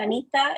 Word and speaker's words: Anitha: just one more thing my parents didn't name me they named me anita it is a very